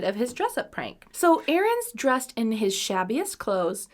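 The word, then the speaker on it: Ahrenes: the joke i just i almost said it like how aaron like but it's not spelled like that it's just what it's spelled like errands but it's a-h-r-e-n-e-s but i said it like aaron's so okay john arons fancied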